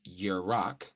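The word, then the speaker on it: ירח: Shamash, okay, Shamash, and the moon, which is Yerach, okay, that's how you say moon, all right?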